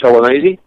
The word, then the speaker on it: Gelonese: If they go into just my name, it's Gelonese. How do you spell that?